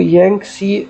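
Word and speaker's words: Yangtze: continent इस दश तो ये है यांक सी इसको यांग सी प्रोनाउंस करते हैं गवर्न करंट गवर्नर ऑफ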